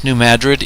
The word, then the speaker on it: New Madrid: Yes, New Madrid is the correct way to say it.